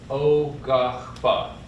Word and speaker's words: Quapaw: talking about our tribe, our people, O-gah-pah, O-gah-pah. And that last syllable tends to be a little difficult because that's just something we don't have remotely in English, but it's that pa, O-gah-pah.